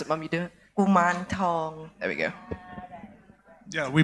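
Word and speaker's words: Kuman Thong: You might know him as Kumontong or something like that. I don't know how to pronounce it. Mum, you do it? Kuman Tong.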